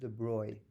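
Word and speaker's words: de Broglie: pronounce this it's a French name de is pronounced de Bry okay yeah so the Bro the BR is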